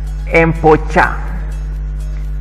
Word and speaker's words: empocha: our second letter, and in Runyankole we pronounce it as cha, like the way you write, you pronounce the word church. And we have cha, che, chi, cho, chu. Cha is seen in a word like empocha. E, mpo, cha, which is soybean.